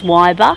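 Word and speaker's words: Weyba: is Waiba. Wyber. Yep. Waiba.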